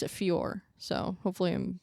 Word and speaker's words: Fiorot: I'm pretty sure you pronounce it Fiorot, so hopefully I'm saying that right.